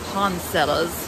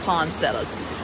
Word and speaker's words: poinsettias: I'm from they pronounce it as Pond sellers but then if you listen to other people talk they pronounce it as poinsettias which if you look at the spellings that is probably the correct pronunciation but where I'm from